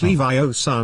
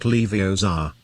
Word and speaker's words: Leviosa: someone's eye out besides you're saying it wrong it's leviosa not leviosa now if you two